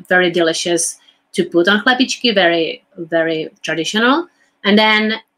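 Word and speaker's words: chlebíčky: Chlebičky.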